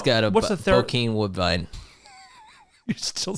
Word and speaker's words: Bokeem Woodbine: Bokeem Woodbine.